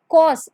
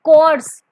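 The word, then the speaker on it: coarse: Option A unkind, option B thoughtless, option B कॉस, इट्स नॉट कोर्स, इट्स नॉट कोर्स, इट्स कॉस। आप इसको simply बोलेंगे कॉस, यहाँ पर आर की जो साउंड है वो टोटली साइलेंट हो जाएगी।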